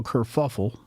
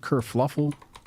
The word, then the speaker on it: kerfuffle: What is it, kerfluffle? How does that word go? Kerfuffle.